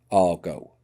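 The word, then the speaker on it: argot: for argo that is pronounced the same but with an added t on the ends and it means a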